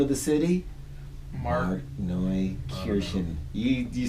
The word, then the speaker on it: Markneukirchen: Markneukirchen.